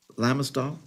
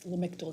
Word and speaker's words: Lamictal: Lamistal? It's Lamictal, C, not S.